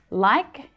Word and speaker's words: like: Now, if we just look at the spelling, like ends in E, a vowel letter. But the E is silent in this word. So like actually ends in a k sound, a consonant sound.